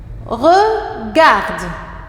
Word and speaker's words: regarde: Regarde. Regarde. Il y a 3 syllabes dans le mot regarde. Regardez bien. Ici, G avec A se prononce ga.